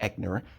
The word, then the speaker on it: Eichner: up bro's Creator Billy eckner at the Eichner I think that's how his name's pronounced blast a homophobic weirdos